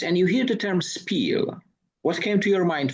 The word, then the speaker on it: spiel: It should be pronounced in English exactly that, as I was told in the noon talk. So SPIEL.